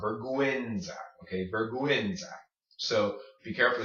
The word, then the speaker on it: vergüenza: This word right here is pronounced vergüenza, vergüenza, vergüenza. Say it slowly, vergüenza, then combine them, vergüenza, vergüenza, vergüenza. Okay, that's how you say shame in Spanish.